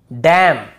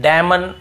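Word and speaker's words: damn: पर क्या करना है एन को नहीं पढ़ना जैसे ऑटम कॉलम डैम हाइम तो यहां पे हमें ऐसे ऑटम कॉलमन डैमन ऐसे हाइमन ऐसे नहीं पढ़ना है ठीक है क्लियर हो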